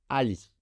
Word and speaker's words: Ali: Mon prénom, c'est Ali. La première syllabe c'est a ou al comme on veut.